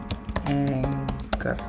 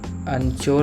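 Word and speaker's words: anchor: तो अनचोर नहीं होता है, इसे एंकर बोलते हैं।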